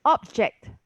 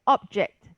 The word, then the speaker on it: object: So object, right? That object is something I object to. You know. So this is a verb and this is the noun.